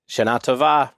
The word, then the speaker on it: Shana Tova: I put the emphasis elsewhere. I say Shana Tova. Shana Tova. Well, I'm looking at the web, and it has the second syllables are in capital letters.